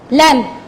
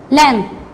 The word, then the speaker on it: lamb: हम silent words को सुन नहीं सकते जब उन्हें हम कहते हैं, like lamb. Lamb. B is a silent word. So we won't pronounce it. We just say lamb.